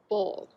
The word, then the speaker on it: boll: is called the cotton boll. I know, that's a weird one. Boll. Boll, ball, but I'll spell it for you. It's spelled a little bit differently than you might think.